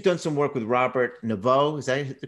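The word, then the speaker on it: Naviaux: syndrome, which you've done some work with Robert Navio. Is that the correct way to say his name? Navio.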